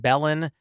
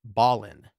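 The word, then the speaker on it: Belen: town that I mispronounced is spelled B- Len I pronounced it bellan and I believe it's Ballin right there you go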